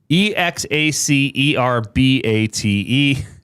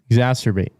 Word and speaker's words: exacerbate: Oh, E X A C E R B A T E. Exacerbate. It's pronounced exas. What? Exacerbate. Exacerbate. There's no turbate in it.